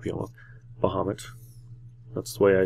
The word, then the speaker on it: Bahamut: there bamas not beo Bahamut that's the way I say it I say Bahamut even though it's probably not pronounced that which I pretty sure I hear that's not pronounced that way but that's bahamat that's